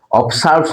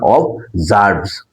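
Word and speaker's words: observes: অবজার্ভস, উচ্চারণটা কি? অবজার্ভস, অবসার্ভস না, অবজার্ভস।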